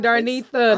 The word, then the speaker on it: Darnetha: No, I'm you like, saying it right, Darnetha.